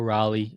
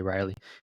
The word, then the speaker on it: Raleigh: Last week, Nate won, and it was Cal Raleigh. I can barely say his name. I always want to say Riley and Lindor, who led all of MLB with home runs with 4.